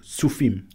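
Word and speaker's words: Tzofim: Your town, I'll get you to pronounce it, where could people identify whereabouts you're living? So my community is called Sufim.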